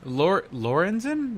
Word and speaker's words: Lorenzen: Mike Lorenzen, am I saying that right, Artie? Lorenzen, you said it right.